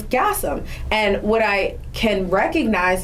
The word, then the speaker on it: Gassam: so he took the N off and it's Gassam.